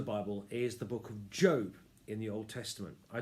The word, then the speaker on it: Job: What you've got in Job is a righteous man called Job, or it's spelled Job, it's pronounced Job.